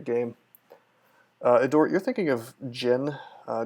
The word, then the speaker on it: Djinn: door you're thinking of Djinn - Ginny or whatever I think the D is silent but yeah those are coming